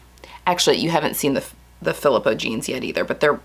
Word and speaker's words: Philippa: My neighbor who spells it this way is pronounced Philippa. They're Danish, but I also know that there's a lot of people where they pronounce it Philippa.